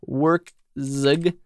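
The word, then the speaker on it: Werkzeug: Workzug, like that.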